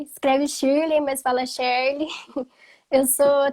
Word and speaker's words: Shirley: E essa pergunta, essa frase que você falou logo no começo, se escreve Shirley, mas fala Shirley, quantas vezes você já falou isso na sua vida?